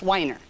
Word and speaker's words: Wiener: It is spelled wiener, but it's pronounced whiner.